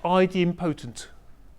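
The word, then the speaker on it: idempotent: over and over again there's a terminology called ID imp poent that's how it's pronounced now anyone being on forums where the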